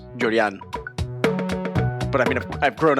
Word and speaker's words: Llorian: I'm from New York, where everyone says Llorian, but actually my parents are Cuban, so it's pronounced Llorian.